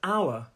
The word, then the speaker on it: hour: more than that and the pronunciation is our so notice that that h is silent yes in the comments